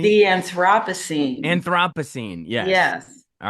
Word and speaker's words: Anthropocene: of Nature, and I don't know how to pronounce that. How do you say Anthropocene? The Anthropocene.